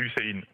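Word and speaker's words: Hüseyin: Ça se dit comme ça. Hussein. C'est comme ça, ouais, c'est Hussein.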